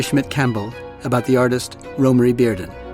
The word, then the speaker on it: Romare Bearden: In this episode, I speak with art historian Mary Schmidt Campbell about the artist Rory Barden. Romy Barden, and yes, that is how his name is pronounced, was born in 1911 and died in 1988.